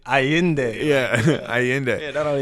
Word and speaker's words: Allende: Because it's Carlos Miguel and then Allende.